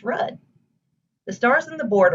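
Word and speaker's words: RUDDH: letters only for example the spelling of rudd r-u-d-d-h is pronounced red the stars in the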